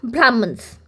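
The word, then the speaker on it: Brahmanas: जो वैदिक हाइम्स हैं उनका एक्सप्लेनेशन होता है हमारा ब्राह्मणस। ब्राह्मणाज़ [नाक से की जाने वाली आवाज़] भी इसे हम प्रोनाउंस कर सकते हैं।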